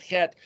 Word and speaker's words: het: The word devastation is het resh mem. The letter het is the 8th letter, pronounced similar to a CH or an H or a CX.